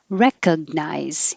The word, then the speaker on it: recognize: a w coerc coercive recognize you can say make your tongue go up in the g position even though you don't release it with a recognize hold it there recognize or skip it completely and just say rekka and your tongue stays flat recognize word the vowel